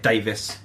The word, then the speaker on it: Davies: I spell it the Welsh way. My parents just say it Davis, just to be fucking awkward.